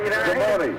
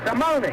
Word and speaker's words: Simone: Mike Simone, not the French pronunciation, but the Italian pronunciation. Yeah, I forget how you pronounce that. Simone. Simone.